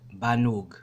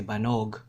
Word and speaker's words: banug: For example, the word banug, right? Banug, right? Some people might say banog, right? Banog, O, but it's going to be pronounced as an U.